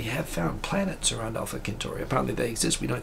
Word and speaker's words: Centauri: 4.2 light years away, Proxima Centauri, or Centauri if you pronounce it correctly, or Alpha Centauri, it